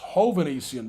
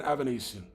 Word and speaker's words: Hovanian: Uh, so that guy's name is pronounced Hovanian rather than Aanian.